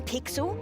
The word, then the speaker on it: Pixel: not weird guy I'm pixel it's easy to remember because it rhymes with pickle so it does I'm